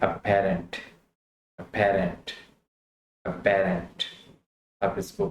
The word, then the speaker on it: aberrant: तो ये है अपेरेंट, अपेरेंट, अपेरेंट। आप इसको प्रोनाउंस करें ताकि आपकी प्रोनाउंसिएशन ठीक हो जाए।